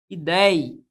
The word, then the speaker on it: ideia: Quando eu falo para você a palavra ideia, perceba que a palavra ideia, ela é composta, olha onde é que está a sílaba tônica, está no ei, ó.